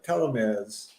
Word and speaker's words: telomere: But theirs is it works on telomeres.